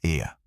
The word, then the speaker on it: Ea: Mais tarde, seu nome mudou para Ea. São 2 sílabas curtas denominadas E e A.